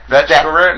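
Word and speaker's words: Bethe Correia: No, Betch Correa? No, she, it's spelled Bethy Correa, but it said Betch Correa or something like that.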